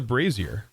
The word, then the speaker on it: brazier: correctly it is very it a weird looking word isn't it but it is a Brazier it's just weird to say it doesn't look like how it sounds so many people lighting